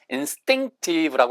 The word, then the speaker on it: instinctive: instinctive 이거 ins이라고 발음하시면 틀린 말음이에요. 100% 왜냐면 s 다음에 t 발음 100% 원어민들은 예외 없이 뜨로 발음을 하니까 instinctive라고 하셔야 돼. instinctive 혹은 instinctive 이렇게 발음하는 원어인데 디으로 발음하는 원어민들도 있어요.